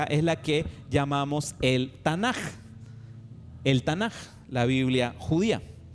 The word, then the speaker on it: Tanaj: Ahí lo escribí como se pronuncia, Tanaj, pero en realidad debería ser una K, Tanaj, pero la K se pronuncia como J en hebreo, el Tanaj.